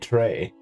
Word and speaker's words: Trey: No, I'm not saying Troy, I'm saying Trey. Like, I know it's not spelled like a tray that you carry something in, but it's like, it literally just sounds like it.